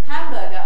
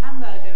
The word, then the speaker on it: hamburger: Hamburger, I was always getting told off about this. Okay, hamburger is hamburger, or something like it, but my stress is wrong.